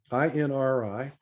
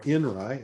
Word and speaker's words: INRI: interpretations among all christians inri or inra as it's typically pronounced again in my jurisdiction